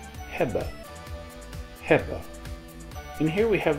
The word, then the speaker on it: hebben: In Dutch, the verb to have is pronounced hebben.